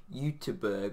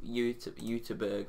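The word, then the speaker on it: Göteborg: I swear he plays for Gothenburg, or that's the English way you say it. I think it's like, second yellow card pronounces this brilliantly, Uteberg or something like that.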